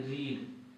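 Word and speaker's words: read: भी रीड होता है लेकिन उसको री रेड पढ़ा जाता है क्या पढ़ा जाता है रेड रीड रेड रीड तो इसको रेड पढ़ा जाएगा ये हो गया ही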